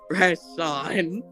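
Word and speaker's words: Rashon: Rashan.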